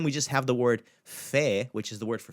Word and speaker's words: fé: You're just going to pronounce it the same way you did as pe, but throw the f sound in front of it. Fe.